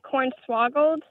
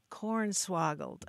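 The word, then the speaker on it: cornswoggled: l e d interesting are you saying corn swaggle or corn swaggle we say it like corn swoggled corn swoggled okay this is a wonderful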